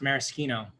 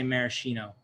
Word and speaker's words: maraschino: pedant a patent but it's pronounced maraschino maraschino yes it's true because it is italian so the marasca but in the in america we say maraschino how about how about